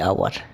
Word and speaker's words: hour: part, a hour, and here hour, the h is a silent sound, here it is h is silent and h is silent, so hour it needs the vowel sound, it produces the vowel sound, and here it